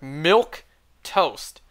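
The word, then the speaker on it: milquetoast: look it up on Google that's how it's pronounced it's not even saying the M sound to think ilk toast whatever milk toast a timid or feeble person and then they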